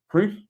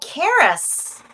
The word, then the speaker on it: Cerys: And the lady beside me, I'm gonna butcher her name, Crease, you know what I'm talking about? Mm. You spell it Cerys. Oh, Karis. Here, I'm horrible with Yes, names. Karis.